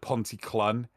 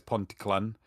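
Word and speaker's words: Pontyclun: it's like it it's it's about like ponte clan everyone that has no idea how it's pronounced spell sorry says ponticlan it's like oh yeah get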